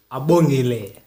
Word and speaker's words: Abongile: And today in the studio, I'm joined by Abongile. Did I pronounce it right? Nah, that's perfect actually.